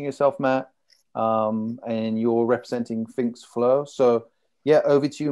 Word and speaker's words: FinxFlo: So how do you pronounce it? Finx or Finx? Finx Flo, yeah.